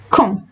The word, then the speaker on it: quand: Quand. D is silent, N is nasal, so we are not pronouncing it fully. So we are saying quand.